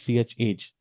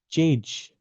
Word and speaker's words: chage: The first question was, what is chage? In fact, the interviewer said, what is change? So the correct pronunciation is ch, means change, and age is the aging properties. Okay, so ch age.